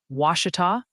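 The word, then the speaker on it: Ouachita: Is it Wacita? The county you're referring to is pronounced Wita like wash as in the action.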